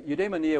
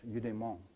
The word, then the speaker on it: eudaimon: My students tease me because I pronounce it like it's French, eudaimon.